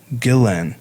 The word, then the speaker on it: Guillén: with the two L's but Vanessa's sister Myra pronounced it Gillen so I know and pronunciation is important to